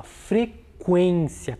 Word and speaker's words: frequência: Qual é a sílaba mais forte? O quen, né? Vejam que aqui o som ele é mais fechado, ele é mais abafado. Então, o sinal correto é o acento correto é o circunflexo, né?